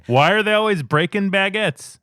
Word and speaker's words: baguette: Why are they always breaking baguettes? Baguette rhymes with faggot.